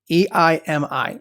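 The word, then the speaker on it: εἰμί: When we say I am, what that's really saying is the word am in Greek is 1510, and it's eimi, E-I-M-I. It's pronounced eimi.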